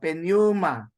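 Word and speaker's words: πνεῦμα: so we will be Pneuma. pronouncing P. Yes, Or silent but, P. but of course it is like a small P, no? At least you get to hear it.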